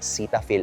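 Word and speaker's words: Cetaphil: As well as of course hindi natin talaga makakalimutan si Cetafil. Yes, citafil ang pag-pronounce pala pero hindi ko kayo pipilitin kasi ako rin eh nahirapan akong masanay.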